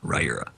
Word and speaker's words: Riyria: If anyone's listening right now who has not heard the audiobook, that's how you pronounce it. Riyria.